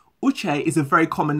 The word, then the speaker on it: Uche: My name is Uche, and that's spelled U-C-H-E, but with an E, just think of it with an accent over the E to make the A sound, so it's Uche.